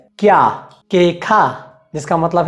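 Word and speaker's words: queja: से मिलता जुलता है, तो अगर हम कु, ऊ और ए को साथ में जोड़ेंगे तो यहाँ पर भी हम ऊ का उच्चारण नहीं करेंगे, हम सिर्फ कु और ए को साथ में जोड़कर उसका उच्चारण करेंगे।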